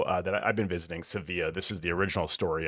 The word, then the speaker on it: Sevilla: So, it was nice to be able to just enjoy the enjoy the company of our friends there in in Sevilla or Seville as we pronounce it.